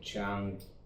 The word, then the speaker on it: Qing: the K& which is how do you pronounce it chang so his party uh had a revolution against theqing dynasty So theQing dynasty was gone.